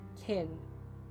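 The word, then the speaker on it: Kine: of both kindred and kin varieties alike. Kin, a derogatory way for vampires to refer mortals, comes from kindred and Cain. Just remember that Cain rhymes with swine.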